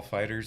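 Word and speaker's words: FighterZ: the not the gameplay I believe it's pronounced Dragon Ball Fighters actually yeah fighters fighter Z however you want to say it doesn't really Tomatoes tomatoes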